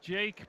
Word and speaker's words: Jackie: As Didier says, Jackie is pronounced like Jake, by the way.